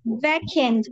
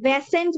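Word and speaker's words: vacant: এমটি, ভ্যাকেন্ট, ভ্যাসেন্ট বলবা না কেউ, এটা হবে ভ্যাকেন্ট, ভ্যাকেন্ট।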